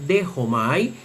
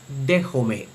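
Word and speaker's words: δέχομαι: Por eso la palabra eh que tenemos aquí en la pronunciación erasmiana se lee dejomay. Dejomai que significa yo recibo. Dejomai, pero según la pronunciación rucliniana debe leerse dejomé.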